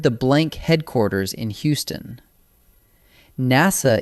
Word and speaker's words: NASA: NASA is an acronym, pronounced as a single word.